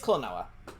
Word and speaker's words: Klonoa: Because I don't actually know how to pronounce it. It's Klonoa.